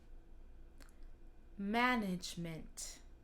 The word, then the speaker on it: management: Ce mot-là, c'est assez plat. Comment alors, ça se prononce euh, assez égal, comme management. C'est assez plat, comme ça. Management. Il faut aussi faire attention à le A, N, ça fait an.